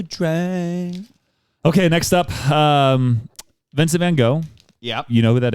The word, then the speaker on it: Van Gogh: Also, same it's pronounced Van Gogh.